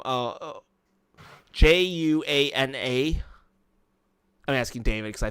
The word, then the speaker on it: Juana: Oh, that's my aunt, Juana. Juana. Yeah, Juana. Juana. I probably can't pronounce the J properly. If you say Juan, just add an A to it.